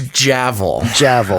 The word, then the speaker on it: Javel: It's Javel. I saw a thing. It's pronounced like gavel.